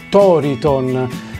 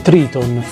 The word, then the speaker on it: Triton: il suo titolo toriton perché in realtà il titolo dovrebbe essere Triton o se lo vogliamo pronunciare all'inglese è Triton in quanto toriton è la pronuncia nipponica ma evidentemente in Italia